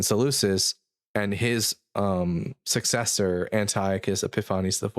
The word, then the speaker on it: Epiphanes: and his successor Antiochus Epiphanes IV. I don't know if people say Epiphanes, but I like Epiphanes. It's like Greek.